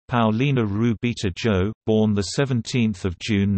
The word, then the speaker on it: Paulina Rubio: Paulina's susana rubio dozerman's spanish pronunciation Paolina ruby - Joe born the 17th of June 1971 generally known